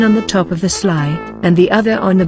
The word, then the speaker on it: SLI: So let me now introduce this new, and quite important, UniML construct, the Swimlane Island, or SLI, which is pronounced as Sly.